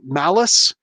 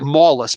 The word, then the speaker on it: Malus: here the the doc dr malice looks like mallus but it's mount you know like malice he's got a lot of malice in his heart but it's spelled like